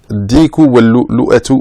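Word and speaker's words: الدِّيكُ وَاللُّؤْلُؤَةُ: Cette fable a pour titre Ad-diku wal-lu'lu'ah. Ad-diku wal-lu'lu'atu, si on veut prononcer la dernière voyelle.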